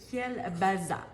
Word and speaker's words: Kolbassa: vous le connaissez donc c'est écrit col Bassa dessus ça se prononce kel baza ok ça se prononce juste comme avec un S puis bon c'est un